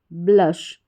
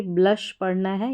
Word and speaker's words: blush: ब्ल और SH श, ब्लश। इसको ब्लुश नहीं पढ़ेंगे, ब्लश पढ़ना है। यहाँ पर यू का उच्चारण ऊ करके नहीं हो रहा है, अ करके इसका उच्चारण है तो ये हो गया ब्लश।